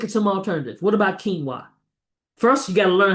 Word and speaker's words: quinoa: Cuz when you look at that qu i n o, ain't nothing tell you that that's pronounced quinoa.